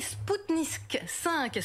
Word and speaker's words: Spoutnik V: attention s'il vous plaît je voudrais vous apprendre à prononcer correctement le nom de ce rac sens c'est bien ce pique nique vais pas ce genre de choses que 10 plusieurs français à la télé je vais vous faire voir prononcer correctement le nom de spoutnik v questions sur le vaccin russon oui spoutnik 5è spoutnik 5 et puis